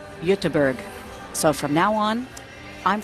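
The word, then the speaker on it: Göteborg: just found out that gber is actually pronounced utterberg so from now on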